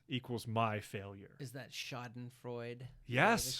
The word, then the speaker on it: Schadenfreude: Yes, Schadenfreude, right? Schadenfreude. Yeah. Did I add an extra syllable? You might have added Schadenfreude. I tend to do that. I think it is Schadenfreude. I could Schadenfreude. be wrong, but yeah.